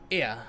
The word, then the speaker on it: Ea: our thoughts and attention ear i believe was the pronunciation when you use when